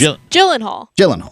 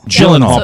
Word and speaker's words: Gyllenhaal: It's Gyllenhaal. Gyllenhaal. Because, by the way, the reason Maddie knows that is the same reason my wife knows that. Jake Gyllenhaal is very popular.